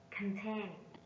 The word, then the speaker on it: contain: Contain. Contain. Contain is a verb and is stressed on the second syllable.